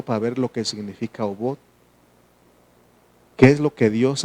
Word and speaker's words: Obot: así se escribe en hebreo esto, esta palabra obot dice que pronunciación obot no estamos bien, estamos pronunciando bien.